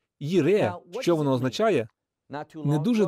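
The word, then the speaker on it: יִרְאֶה: Джайра так вимовляти неправильно. Слово це «Єре».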